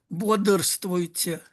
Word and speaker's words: Бодрствуйте: it's pronounced, in fact, with some sort of schwa, somewhere there in between. Бодрствуйте.